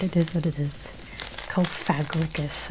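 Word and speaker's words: Cofagrigus: Kofagricus. I used to say Kofagus.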